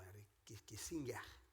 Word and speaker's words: Kissinger: Palavras de Henry Kissinger, ou Henry Kissinger, se for dito em pronúncia alemã.